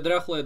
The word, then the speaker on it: дряхлое: То есть у слова «дряхлое» есть свое ударение на букву «я». «Дряхлое», ну, на первую «я».